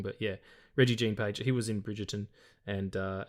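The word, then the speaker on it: Regé-Jean Page: I believe it's Reggie Jean Page. Reggie, there's a little one of those little wisps above the E. So maybe I'm pronouncing it wrong, but yeah, Reggie Jean Page.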